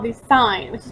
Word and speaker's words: sine: hypotenuse is called the sign which is pronounced like the word sign so in a right